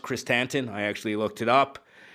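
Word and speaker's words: Krrsantan: K or black Christ tanton that's how it's pronounced Christ tanton I actually looked it up and that fight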